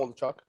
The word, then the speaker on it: Waldichuk: Waldichuk, or whatever the hell you say his name, You got it, Waldichuk.